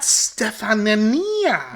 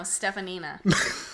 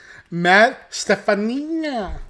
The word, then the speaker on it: Stefanina: Matt Stefanina. Stefanina. Stefanina. Matt Stefanina. Yeah. It's spelled phonetically true. Matt Stefanina. Mm-hmm. Matt Stefanina. Stepping with the Nina.